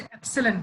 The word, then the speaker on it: epsilon: Symbol हम लोग यूज करते हैं ई टाइप का, इसको बोलते हैं एप्सिलॉन, प्रोनाउंस करते हैं एप्सिलॉन।